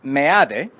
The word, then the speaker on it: Meade: even, José Antonio Meade, who insists now on being Meade and not Meade, as the name would usually be translated, pronounced in Spanish. So it's Meade.